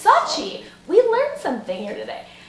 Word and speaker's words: Sochi: I found on Twitter about how does it pronounce it Sochi it's not Sochi guys it's Sochi we learned something here today at least I